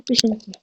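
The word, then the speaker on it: Pochinki: Mais moi, je dis mieux comme ça.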